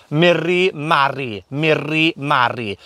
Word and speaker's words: Miri Mari: call them 'Miri Mari' now think of the r sound there. In Welsh we roll our r's 'rrrrrrrr' so we're not starting a motorbike today we're starting the chainsaw instead (Makes chainsaw engine noise) 'Miri Mari' so practice saying the 'r' sound 'Miri Mari' 'Heddiw rydyn ni'n mynd